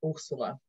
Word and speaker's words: Ursula: I'm from Brazil and in Portuguese my name is pronounced Ursula hello everybody my name